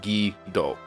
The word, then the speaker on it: Guido: to do it take it is not pronounced phonetically like another word uh which unfortunately in